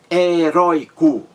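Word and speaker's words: heroico: é entendeu uma palavra heróico heróico três sílabas a mais forte rói-rói heróico a palavra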